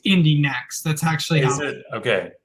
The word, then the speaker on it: Indy NXT: NXT sorry that's true it's pronounced Indie next that's actually is it